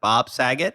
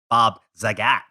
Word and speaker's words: Saget: That was Bob Saget. But it's like that. Zagat. No, but think of that's how you pronounce it. Bob Saget. You don't say Bob Zagat. Like it's Bob Saget.